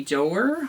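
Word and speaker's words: Doerr: we cannot see by Anthony door I believe is how you pronounce his name um really really enjoyed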